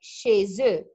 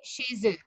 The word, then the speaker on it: chez eux: Je vais chez eux. It's eux, but we pronounce it the because there is a Z. We make la liaison, we join. Je vais chez eux.